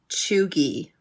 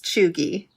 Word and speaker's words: cheugy: roundabout and today we are talking about being chugi and in case you're wondering that's spelled c h e u g y chugi